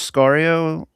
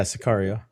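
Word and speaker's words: Sicario: This was Scario. Am I saying it right? Sakario, something like that. Yeah, Sakario. Yeah, the second one. Correct.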